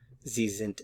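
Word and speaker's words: sind: you you're very nice zint Za net notice the pronunciation of the s's zint also the pronunciation of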